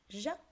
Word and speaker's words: giấc: Trong đoạn 1, các em cần lưu ý từ giấc. Giấc ở đây chúng ta phát âm là G và tiếng dưới.